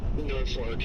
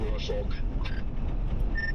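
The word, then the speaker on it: Norfolk: That happens to people who call it North Fork. Instead of Norolk, well, I'm calling it Norfor and uh you know, I'm on top of Freddy.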